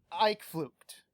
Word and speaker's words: Uitvlugt: spelled uit VL u GT and it's apparently pronounced I fluked don't ask me you know I'm just as